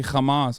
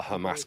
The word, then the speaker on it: Hamas: want you to know you're mispronouncing Hamas in the very particular way that Israeli officials mispronounce it. It's not a ha-sound. I didn't say Hamas.